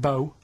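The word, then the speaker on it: B.O.: It's not pronounced bow, and it's not spout bow. Who calls it bow? Everyone knows it's B-O.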